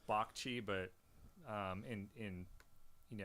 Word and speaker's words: Bagchee: how did you say your last name um BAGI was is it BAGI BAGI yeah awesome dude it's actually pronounced B CH but um in in you know in Bengali